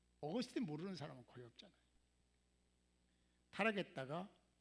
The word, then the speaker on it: 어거스틴: 근데 아구스티누스는에 라틴어고요. 라틴어로 아구스티누스라고 발음하는 거고요. 영어로 발음하면 어거스틴입니다. 어거스틴 모르는 사람은 거의 없잖아요.